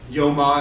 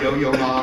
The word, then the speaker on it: Yo-Yo Ma: There's an example on how the cellist Yo-Ma, is that how you say his name? Yeah, is it Yo-Yo Ma or what?